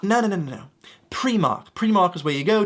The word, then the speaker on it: Primark: so funny to laugh at tourists when they pronounce them incorrectly. First one, very easy. You might see this and go, is that Primark? No. Primark.